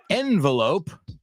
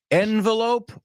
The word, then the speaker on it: envelope: Now, the reason I chose the word envelope is because here's what you need to pronounce it with me, folks. Envelope or envelope? Can you give me an envelope or an envelope? Both are totally accepted.